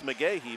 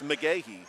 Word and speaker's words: McGahee: It's definitely not pronounced like Willis McGahee, but it's McGahee, Sammy McGahee.